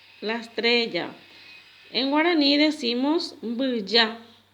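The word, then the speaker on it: mbyja: En guaraní decimos bulla. Bulla.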